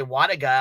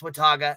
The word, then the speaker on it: Wataga: got Wataga like Wataga people say water guy I'm like no it's Wataga this is w-a-t-a-g-a yeah